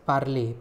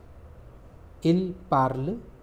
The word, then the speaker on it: parle: With il, I add E, il parle. The pronunciation of P-A-R-L-E and P-A-R-L-E-S is similar.